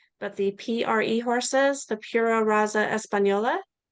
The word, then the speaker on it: Pura Raza Española: Juliana is asking about and I'll probably pronounce this incorrectly, but the PRE horses, the Pura Raza Española.